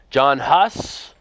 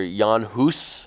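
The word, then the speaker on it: Jan Hus: into the English language John hus or yanus as it's more correctly um spelled and pronounced but John hus was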